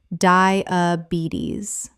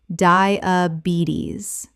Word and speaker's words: diabetes: Diabetis. Correct pronunciation. Diabetes. The stress is on the third syllable, and the final s makes a z sound.